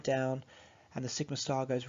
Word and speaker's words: sigma star: And so that would be pronounced sigma star, represents the antibonding sigma orbital.